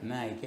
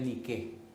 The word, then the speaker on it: Nike: Hay mucha gente que tiene tenis y su tenis dice en griego niqué, pero ellos lo pronuncian en inglés que es como Nike. En griego en realidad es nique significa victoria.